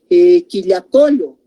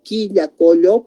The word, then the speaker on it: Quillacollo: Puedo decir quillacollo, no es diptongo quillacollo porque directamente es aquí, ese U no se está pronunciando.